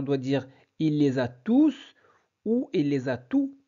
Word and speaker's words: tous: très bien la bonne réponse est oui on prononce le S car tous est un pronom tous ici remplace un